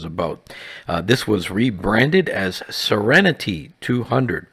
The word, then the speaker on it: Seren T200: This was rebranded as Serenity 200, pronounced like the word serenity.